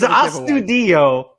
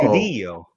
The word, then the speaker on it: Astudillo: So is Astudillo a wine, beer, spirit, or pop culture reference?